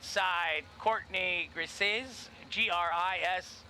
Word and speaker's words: Grisez: Courtney Grisez, G-R-I-S-E-Z, Grisez. We'll go the French pronunciation, Grisez.